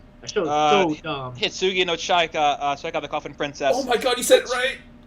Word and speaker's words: Hitsugi no Chaika: Hitsugi no Chaika, Check Out the Coffin Princess.